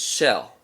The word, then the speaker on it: SHEL: amazing the next band on my list is shell and shell is spelled SH DL and they are a group